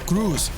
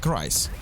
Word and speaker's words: Kreis: I've been contacted by Kreis that I've been pronouncing his nickname wrong, and I was saying Cruz, which is a like, I'm completely idiot. Why would I say Cruz against instead of Kreis?